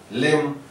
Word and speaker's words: limb: Limb. This is I sound, E sound. This is A sound, limb. And when B follows M, and most of the times it is not pronounced, as we have got